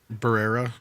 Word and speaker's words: Barrera: Barrera. Barrera.